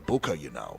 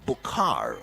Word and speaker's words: Bukar: Not the Booker, but this one is a Bukar.